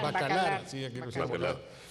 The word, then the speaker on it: Bacalar: ¿Bacarat o Bacalar? Bacalar.